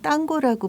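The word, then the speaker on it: tango: 아르헨티나 탱고는 스페인어 발음으로는 땅고라고 부르는데요.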